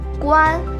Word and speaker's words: Guan: name is a hardw because the O says a and the proper way to pronounce it in Chinese is actually Guan so yeah you can